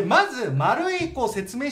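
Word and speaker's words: 丸井: 飛はいでまず丸いこう説明しておくと百貨点のことよねでえっとその名前っていうか看板が oi で丸いって読むことになって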